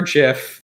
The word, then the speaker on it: GIF: is natty front so she could play gif or jiff uh depending on your pronunciation well that's the thing